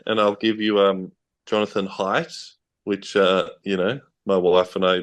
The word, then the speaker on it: Haidt: I'll give you Jonathan Haidt, which, my wife and I did Google how do you pronounce his name until we found him saying it. Jonathan Haidt, as in how high are you?